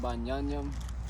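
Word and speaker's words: בִּנְיָמִין: Benjamin is pronounced Banyanyam. In the Hebrew, it means.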